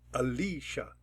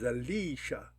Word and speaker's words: Alicia: correspond with the syllable this is a three syllable word Alicia if we give it a 1 it will accent the first syllable we give it a 2 it'll accent the second syllable if we give it a 3 it'll accent the third syllable I'm gonna give it a 2 because I like it to accent Li Alicia my name is